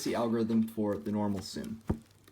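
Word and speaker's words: Sune: case we have is called zoom that's spelled s-u-n-e it's the easiest my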